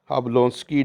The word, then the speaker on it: Jablonski: इसे हम कहते हैं अब लोस की डायग्राम अब लोस की डायग्राम इसमें जो जे है यह य जो है यह साइलेंट है तो अब लोस